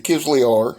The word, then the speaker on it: Kizlyar: some knife fighting here quickly handled it the kids we are and that is how you pronounce it i don't need a pronunciation lesson